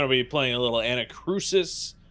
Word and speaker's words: Anacrusis: be playing a little anacrusis is that how you pronounce it anachrosis yeah like a cruise ship well i would say